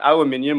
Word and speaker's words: aluminium: here's the debate right aluminium or aluminum uh either way you say it but in australia